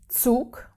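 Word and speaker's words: Zug: Uh the word for train is souk.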